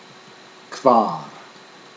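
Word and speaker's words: hvar: The HV combination is pronounced as an English KV combination. Kvar, kvar.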